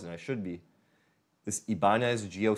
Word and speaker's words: Ibanez: It's pronounced Ibanez, I believe, but Ibanez Geo, G-I-O, sound gear.